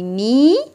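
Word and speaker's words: knee: هتبقى اي كت ماي ني لاست ويك طبعا كلمه نيم ما بنطقش حرف الكي لو جه وراها n ما بنطقهاش يبقى اي كات يبدا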